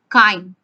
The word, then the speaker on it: chyme: The food gets partially digested in the stomach, and now this partially digested food is called chyme. Spelling is CHYME. CH is pronounced as K.